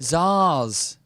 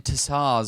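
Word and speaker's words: tsars: affiliation with the Zars oh that's how you say it that's why that's how you say it Zars we've been saying tar all all all day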